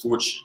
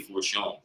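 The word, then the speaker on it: Forchion: It's like supposed to be a French pronunciation. We don't do it. Yeah. It's supposed to be Fortune.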